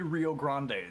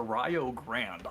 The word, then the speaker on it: Rio Grande: It's not going to be Rio Grande. It's going to be spelled like that, but it's going to be pronounced Rio Grande.